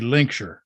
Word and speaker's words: Lincolnshire: really I love the way you say Lincolnshire I like I like that it we because we say we're lazy we say Lincolnshire yeah well it depends it depends on where you're from here in the states too if you're from Massachusetts it'd be linksure I mean there's a town